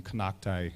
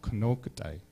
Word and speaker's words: kokai: not here you know the word um kakai is actually mispronounced it's called kokai and it actually means Old